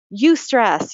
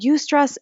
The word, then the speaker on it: eustress: There's good stress, which is called eustress, taken from the Greek like euphoria.